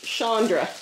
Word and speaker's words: Chandra: Okay, this is from, Shawn says it's Chandra. That's the way I'm used to pronouncing okay. my spelling. Okay. It could be pronounced other ways, but that's the pronunciation I'm familiar with that spelling.